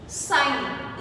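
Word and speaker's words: sign: Next है साइन, इसमें जी बीच में है, साइलेंट है।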